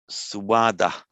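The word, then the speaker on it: स्वाद: And swada, swada. That's from the su plus ada. Literally good to eat, suada, swada. The pronounce the swa.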